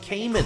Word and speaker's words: Cayman: And it's pronounced Cayman.